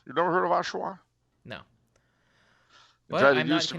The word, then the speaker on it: Oshawa: the lake a bit east of toronto okay oshawa you never heard of oshawa no but it used to be you're not